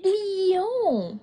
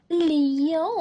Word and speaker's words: Lyon: et l'autre lion mè on dit lion lon tu n'as pas besoin de faire comme moi avec les lèvres juste prononce lion lion merci ce n'est pas